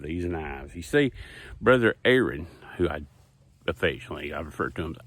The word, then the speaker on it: Aaron: You see, Brother Aaron, who I refer to him as AA Ron, you know, because of that TV skit. Time. So why didn't you say it the first time I said Aaron?